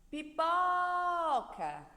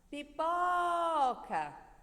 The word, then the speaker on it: pipoca: a sílaba mais forte pipoca pipoca perceberam que o pó é a sílaba mais forte a sílaba tônica da palavra pipoca outro exemplo lâmpada lâmpada